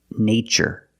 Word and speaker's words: nature: In the first word, we use the long a like day and say nay. Nature.